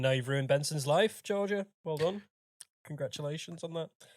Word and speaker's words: Georgia: terrible well thank you Georgie was it Georgie that that sent that question Georgia Georgia sorry got your name wrong Georgia Geor not Georgina not Georgie Georgia fair enough great question